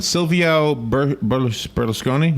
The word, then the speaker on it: Silvio Berlusconi: Silvio Berlusconi, is how you say it, the former Italian prime minister.